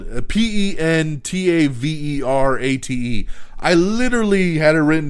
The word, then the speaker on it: Pentaverate: We have the first teaser trailer for Mike Myers' upcoming Netflix comedy event, the oh my God, I always mess this goddamn name up. The Pentaverte. Whatever the fuck it's called. Pentaverate.